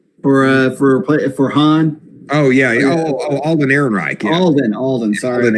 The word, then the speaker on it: Alden: And then, so I am not a fan of this selection, but Eldon, is that how you pronounce his name? For Han? Oh, yeah. Alden Ehrenreich.